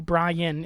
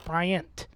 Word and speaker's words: Bryant: there's a name wrong it's not cookie Brian it's Bryant but the sad thing